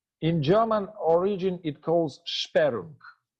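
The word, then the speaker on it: Sperrung: German origin it calls sharun this word should be should be pronounced like sparing sudden arrest of the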